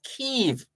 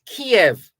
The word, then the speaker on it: Kyiv: for their capital is Kyiv. That's what the Ukrainians say. And the Russians prefer to use the term Kiev. So the Russians say Kiev, K-I-E-V, and the Ukrainians say Kyiv.